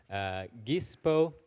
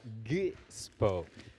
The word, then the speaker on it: Gispo: We say it with this G that is like G. It's a bit like when you're choking on something and you have to say G. So try to say it like that, Gispo.